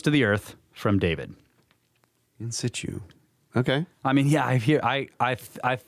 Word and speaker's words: in situ: In situ is in situ, but the T is almost silent, but not quite, and you say it kind of fast. In situ.